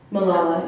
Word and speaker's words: Malala: Given the recent attack on Malala Yousafzai, if I pronounced her name correctly. Malala, yeah.